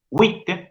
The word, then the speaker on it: oui: Si yo digo pas jouy, pas jouy, pas jouy, estaría transformando en un diptongo el wit, que no forma diptongo. Wit, wit, wit. Aunque les parezca mentira, esa palabra tiene dos sílabas.